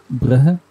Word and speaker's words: Brugge: If you want to, like in Flemish, we say bruh. So that's how we pronounce it.